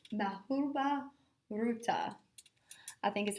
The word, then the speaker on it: Mahabharata: The most famous epic poem are and like I said, I'm going to have to look up how to pronounce this correctly. I think it's Mahabharata.